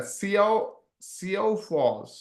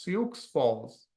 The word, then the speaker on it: Sioux Falls: How do I even pronounce that? SEO Falls, Sioux Falls, and Minneapolis.